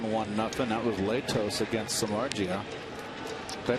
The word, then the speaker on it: Samardzija: That was Latos against Samardzija. Did I pronounce that correctly? Samardzija, yeah, he's he's one of the hard throwers